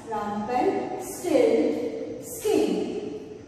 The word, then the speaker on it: Rumpelstiltskin: So together, if we join these words together, we can pronounce it as Rumpelstiltskin.